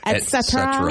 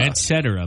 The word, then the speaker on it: et cetera: Some people get really upset about certain pronunciations, I've learned. Mm-hmm. Another one, ETC, is short for what? Oh, et cetera. Et cetera.